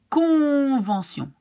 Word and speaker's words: convention: We have here, for example, convention. You pronounce the C here like K, because it's in front of an in front of an O.